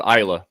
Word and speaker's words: Islay: Yeah, I was born in Paisley, Glasgow, but I actually lived on an island off the west coast of Scotland called Islay. It's spelled Islay.